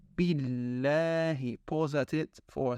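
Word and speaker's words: بالله: And make sure to pronounce the shadda on the lam carefully. It's not billahi, it's billahi.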